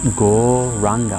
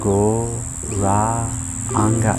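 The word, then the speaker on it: Gauranga: be meditating on is go ranga mantra divided into four syllables so as we inhale you say the mantra go ra anga in our mind and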